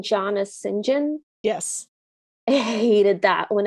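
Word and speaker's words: St John: know that there's a version in which people pronouncing john as sinjin yes i hated that when i was reading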